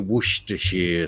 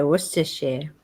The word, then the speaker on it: Worcestershire: cupboard, you get your Worcestershire sauce out the cupboard. Well, even I think in my family they just say Worcestershire. They don't say Worcestershire. They say Worcestershire because that's an easier sound to make.